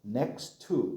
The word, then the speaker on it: next to: 자, 원래는 next to인데 next의 t와 to의 t것이 t것 중복이 일어나죠. 그래서 next to 이렇게 읽는 게 좀 더 자연스러워요. next to 빨리 읽어서 어떻게 발음하라고? next to 이렇게 발음하는 거예요.